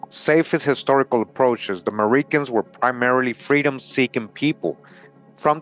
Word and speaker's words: Meriken: So, who were the Merikens? Meriken comes from the word American, right? Meriken comes from American, often pronounced about the initial A.